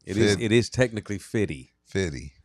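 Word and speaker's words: Fifty: It is technically Fitty. Fitty. Fitty like rhymes with Diddy.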